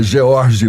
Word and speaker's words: Jorge: O seu Jorge tem S no final, mas eu estou falando corretamente, né? A gente não pronuncia. É George mesmo, né?